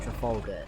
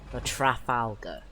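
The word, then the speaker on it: Trafalgar: Trafaloga. That's how you pronounce it in English. Trafaloga. The Trafalga.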